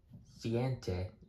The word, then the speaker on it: siete: Anyways, siente is how you say 7 in Spanish.